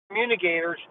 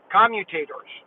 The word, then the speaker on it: commutator: and i you know robert was always calling them communicators and i finally realized he's been saying it wrong they're actually because they're all they're also called they're out there they're really called commutators commutator a commutator because